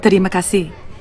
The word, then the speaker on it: terima kasih: Actually, it's pronounced terima kasih.